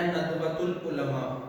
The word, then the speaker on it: ندوۃ العلماء: تو ندوۃ العلماء. یہ بھی اعراب آپ نے ٹھیک کرنا ہے، تلفظ ٹھیک کرنا ہے، ندوۃ العلماء.